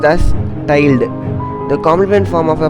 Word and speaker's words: tilde: This operator is pronounced as tilde.